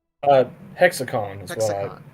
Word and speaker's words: HexiCon: about, uh, is pronounced hexicon, Tommy, right? Uh, hexacon is what I call it. Hexacon. Okay. So, the I is kind of silent there.